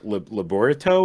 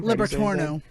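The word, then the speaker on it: Labyorteaux: you say his name Liberto yeah but a torno how there's no end at the end that's right it's orange so it's l-a-b-y-o-r-t-e-a-u-x there's no n anywhere in it so so then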